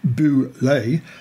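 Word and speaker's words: Bulette: favor the front two the boulet pronounced boo lay has only two semi-verbal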